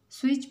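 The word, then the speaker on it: switch: स्विच में T silent है.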